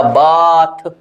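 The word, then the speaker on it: bath: फस आफ्टर बात राट बात क्या लिखा है बी ए टी एच मेरे को करना है साउंड बा मैंने यहां पर इस तरह से कर दिया य आ और यह कर दिया थ बन गया बाथ अरे दिख रहा है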